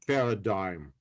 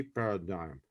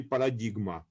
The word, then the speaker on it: paradigm: of science so this they pronounce it paradigm okay paradigm this is uh in russian we say paladigma this is just a little bit different yes pronunciation okay so this was